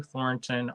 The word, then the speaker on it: Thornton: will still happen anyway it's like Thorn like a thorn in your side a ton of thorns correct I used to